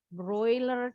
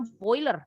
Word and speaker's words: broiler: Broiler chicken. Kalau kita nyebutnya boiler, padahal broiler yang betul ya pengucapannya.